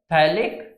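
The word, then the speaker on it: phthalic: थैलिक acid, PS silent होता है, थैलिक acid इसको बोलते हैं।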